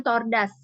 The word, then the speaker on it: tortoise: Ya, ini cara bacanya tordas ya. Tordas, kura-kura.